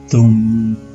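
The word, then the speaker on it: दुं: Also, the vowel in this mantra is a short vowel and is pronounced U, as in the English word book. So Durga's Bīja mantra is Dum.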